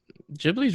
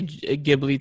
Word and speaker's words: Ghibli: I used to say Ghibli too, and then like people are like, "No, it's Ghibli."